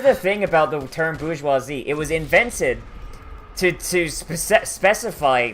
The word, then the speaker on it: bourgeoisie: Like, can someone explain how the word size is spelled like that, but it's pronounced bourgeoisie?